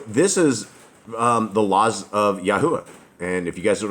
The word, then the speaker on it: Yahuwah: But that's closer than God, and that's how you would pronounce it as well, Yahuwah.